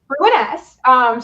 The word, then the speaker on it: Ruiness: Ruiness.